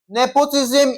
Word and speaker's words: nepotism: Nepotism is stressed on the first syllable.